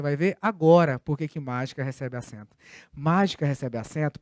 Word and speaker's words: mágica: Em mágica, a sílaba tônica está aqui. Ela é uma proparoxítona e ela recebe o acento. E você vai ver daqui a pouquinho por que mágica recebe acento.